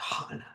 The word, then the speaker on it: Hana: named Hana and she made sure you had to say Hana. That's funny. I like that. Hannah sounds Hannah sounds very New York. So I would think, well, I can't be saying it right.